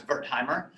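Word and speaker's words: Wertheimer: like bill hambund max bertheimer is a german researcher so the w is pronounced like a v and and bertheimer said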